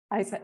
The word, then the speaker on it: Isa: No, I just wanted to comment on what Isa, sorry, I don't know how to pronounce her name, was saying Isa, about like Isabel. Isa, okay.